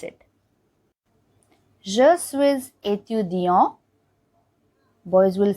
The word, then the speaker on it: suis: So usually this word suis is pronounced as suis. Only when it is followed by vowel, that S gets pronounced as Z. So it becomes je suis. Otherwise it is je suis.